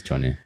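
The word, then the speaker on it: Johnney: It is Johnny.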